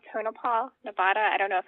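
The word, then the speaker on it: Tonopah: in a place called tonipal Nevada I don't know if I pronounced that right yeah tonipal you're saying it just right okay um what I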